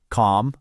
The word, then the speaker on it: calm: The clue here isn't what you're hearing, it's what you're not hearing. Did you figure it out? The answer is a silent L.